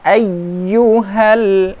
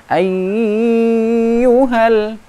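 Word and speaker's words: أيها: Al Fatihah iaga ulyah ayyuhal ayyuhal bukan haiyyu hal seperti itu Ditekan kebawah eigyou help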